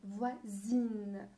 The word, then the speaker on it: voisine: les pick'n plus tôt à la fin se prononce 1 mais quand on ajoute eux ça devient in voisine deuxièmement un vétérinaire quand on a un en